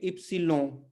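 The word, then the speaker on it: ípsilon: English में पढ़ते हैं, पुर्तगाली में इसको पढ़ेंगे इप्सिलों, इप्सिलों, क्यों, एन के पहले एक वॉवेल आया है, तो अगेन ये क्या हो जाएगा, लों, लोन नहीं पढ़ना है हमें, है ना, ये पढ़ेंगे इसको हम लों, इप्सिलों, ठीक है, इप्सिलों।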